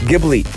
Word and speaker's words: Ghibli: studio deep how do you say this one gibby ghibli ghibli yeah i know i i know i should